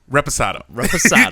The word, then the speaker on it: Reposado: Reposado. Because this earlier he was saying Reposado. I kept putting an S where there is no S.